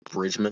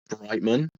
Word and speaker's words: Alex Brightman: I'm going to mispronounce his last name so much. Alex like Bridgemond or something. Such bad Brightman.